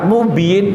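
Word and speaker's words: مبين: rongga mulut ketika membaca jadi ketika membaca mubin ini tidak dengung hati-hati rata-rata masyarakat umum ini bacanya dengan dengung misal mubin mobil dia pakainya mobil binnnn harusnya biii n nah itu cuman kadang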